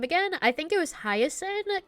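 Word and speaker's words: Hyacine: I think it was Hiasin. Kind of like how you say Hiasin, like the flower, but just the highest part.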